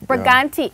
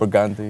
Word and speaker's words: Brigante: Brigante. I want to say it with an accent though. Brigante. It's Hispanic. So when you get international, I could say it like them, you know? It's Hispanic, you know.